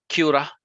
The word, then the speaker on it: Qurra: specific platform called um basically the pronunciation is uh cura i'll bring up the